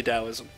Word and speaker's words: Taoism: didn't do so Taoism you'll notice that it's spelled Taoism but it's actually Taoism that comes from oh